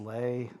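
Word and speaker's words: Leigh: Vivian Lee. I pronounce it Lay.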